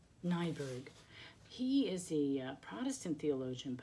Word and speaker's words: Niebuhr: Reinhold Niebuhr so how you say his name nyberg he is the Protestant theologian but many Catholics